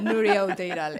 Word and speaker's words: Nuria Outeiral: Nuria Outeiral. Say it fast. Outeiral. Better, Nuria Outeiral. It's just complicated. It's fine. You said right.